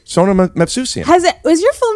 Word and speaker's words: Movsesian: Get ready for a great episode with Sona Movsesian. How do you not know this yet? We are friends. I've never mispronounced Glassman. Yeah, obviously. It's not Movsesian. Sona Movsesian.